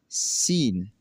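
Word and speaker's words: scene: वो यह है कि अगर किसी लफ्ज में सी से पहले एस आता है तो सी हमेशा साइलेंट हो जाएगा।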